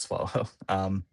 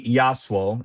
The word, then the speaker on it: Yaswal: Actually, before I get to Great Plains, it is worth mentioning Berber City and Charney Swallow, it's not Swallow. Charney Yaswal is how you pronounce that name.